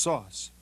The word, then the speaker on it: SOS: the operating system you using is called SOS pronounced sauce and it stands for sophisticated operating system some